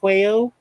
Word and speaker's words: Quayo: Yeah, I see you, Kelby Quayo. Is that how it's pronounced, Quayo?